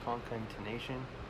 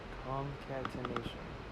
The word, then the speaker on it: concatenation: Concatenation. I don't even know what this word means. Yeah, it's not concentration. Let's see, where was that? Concatenation. There it is. Concatenation.